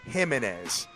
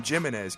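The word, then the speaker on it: Jiménez: the mound Baltimore has let me pronounce this right Ubaldo gimenez on the mound how about that boom how about that for all my critics I before I used to call him jimnez kid that's what I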